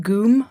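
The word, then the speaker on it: ГУМ: Gum? That's right. It's pronounced goom, but close.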